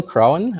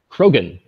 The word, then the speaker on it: Krogan: to that and then bill crowen I don't exactly know how to pronounce your name is that right C how do you say Bill Krogan Krogan Bill Krogan is going to introduce